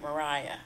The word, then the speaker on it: Maria Stewart: So she was the right, I think we pronounce it Mariah. I think she called it Mariah Stewart.